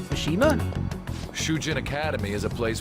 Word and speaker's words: Mishima: let's go Mishima oh is that how it's pronounced Mishima sujin Academy is a place where those with